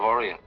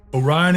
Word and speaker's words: Orion: But up there's the constellation of Orient. The brightest star in all the heavens. Of course, Orion is the hunter, and the Big Dipper is the Great Bear. He also says that Beetlejuice in Orion is the brightest star in the sky.